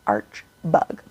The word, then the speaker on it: Arch Bug: he's such a like his name is weirdly hard to pronounce even though it's literally two syllables arch bug because we know that